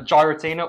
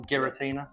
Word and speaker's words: Giratina: chase cards in this set we've got the gyratina or Giratina Giratina yeah funny how you say it got